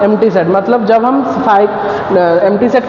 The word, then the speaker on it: phi: और उसको डिनोट कैसे करते हैं, फाई, मतलब ये जो होता है PHI, इसको हम पढ़ते हैं क्या, फाई, प्रोनाउंस क्या करते हैं, फाई, ठीक है ना।